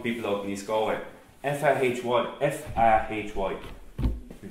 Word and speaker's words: Fahy: F-A-H-Y, we pronounce Fahy, but I've heard it called Faha, with the Y being dropped.